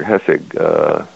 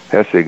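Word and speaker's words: Hässig: were done by Professor Hessig and his colleagues in Switzerland. Okay, so Hessig is spelled H-A-S-S-I-G with an umlaut over the A.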